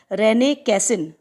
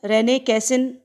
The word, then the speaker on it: René Cassin: रेने कैसिन नाम है, रेने कैसिन पूरा नाम है सर का।